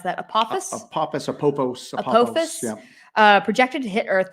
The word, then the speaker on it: Apophis: Not Today Saban earlier said, so can you pronounce that? Apophis? Apophis.